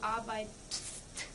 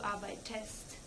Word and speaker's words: arbeitest: That's because, otherwise it's very hard to pronounce; to say du arbeitst, that's very hard. So, to make this easier, we just add an -e and you say du arbeitest.